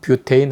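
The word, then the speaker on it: butane: 얘기 하는데 뭐 좋습니다 부탄 프로판 뭐 그렇게 알려진 일입니까 그 옛날이 두고 우리도 화합을 배웠으니까 요 정식적으로 6팩 네임에 그 원어민 아 가까운 발음으로 프로 페인 뷰 테인 하고 불러 주겠습니다 우리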